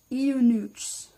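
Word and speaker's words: eunuchs: time pronouncing this word it's spelled EU and you see HS you newts you News News I'm gonna say you news from now on provincial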